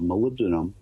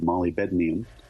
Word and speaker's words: molybdenum: a little bit of molybdenum, that's spelled molybdenum, but molybdenum that enhances the pitting resistance.